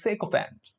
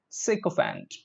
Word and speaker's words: sycophant: talk about the fifth one okay is it sycophant first a sycophant no it is sake of ant sake of aunt look at the correct pronunciation sick of ant ok the sycophant just means somebody who praises